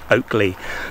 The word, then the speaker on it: Ockley: if there were in the modern pronunciation from the old anglo-saxon is oak lee oak as in oak and lee l-e-a oakley there's other places that